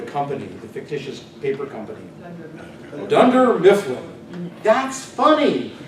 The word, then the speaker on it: Dunder Mifflin: the fictitious paper company Dunder Mifflin that's funny dunder it kind of rhymes with under Mifflin well myth is